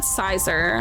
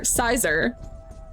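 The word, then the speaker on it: Scizor: Pronounce it like scissor. Make the second half of like scissor. I've always said Sizor.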